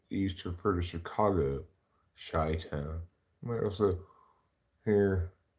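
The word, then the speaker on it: Chi-Town: of course the irony is it should be pronounced sh town so you know just goes to show you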